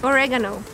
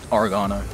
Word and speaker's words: oregano: Oregano. Oregano. Oregano. It's just where the accent goes, no?